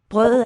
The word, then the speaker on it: brødet: Brødet er bag ham. Okay, the bread is spelled with ø. Brødet. And the weakened D colors the vowel, the bread.